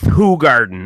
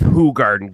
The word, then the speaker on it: Hoegaarden: listen guys it's it's Hoegaarden it's pronounced who guard guys average Joe in